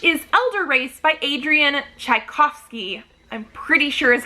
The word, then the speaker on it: Tchaikovsky: november 16th which is elder race by adrian tchaikovsky i'm pretty sure is how you pronounce that o v s t-c-h-a-i-k-o-v-s-k y sure uh yeah adrian tchaikovsky and this one